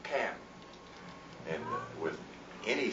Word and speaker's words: Ham: discovered through research that that name is not Ham but Cam, and with any syllable